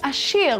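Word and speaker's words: עשיר: Well, there's a new #1 richest man in town, and that's why today's word is ashir, which is how you say rich in Hebrew.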